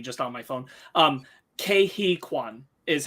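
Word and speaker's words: Ke Huy Quan: site uh but i just checked how to pronounce it it's kehikwan gotcha cool uh what was i saying sorry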